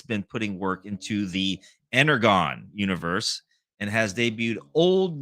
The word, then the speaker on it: Energon: It's pronounced like a John.